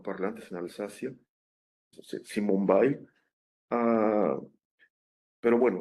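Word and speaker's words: Weil: el apellido se pronuncia en alemán, es creo que es eh de familias eh eh judías, ¿no? Que hermano Parla antes en Alsascia, Simon Baile.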